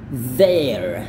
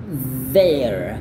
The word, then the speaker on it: there: Caranya adalah there. Sekali lagi, there. Kayak gitu. Jadi dia lidah agak keluar sedikit dan bunyinya itu kayak zah.